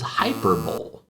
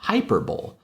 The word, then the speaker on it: hyperbole: sounds when it's read, you might think this is hyperbole, if you've never seen it before. Hyperbole. And a lot of young people, especially children, will read this as hyperbole.